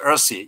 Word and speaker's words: URSI: way you rsi you you pronounce earthy you know earthy earth is a pronunciation of this word and the reason why